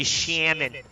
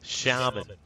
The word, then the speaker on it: shaman: let me get down you shamon doesn't rhyme with salmon foolish Shaman rhymes with Ramen dear child sh what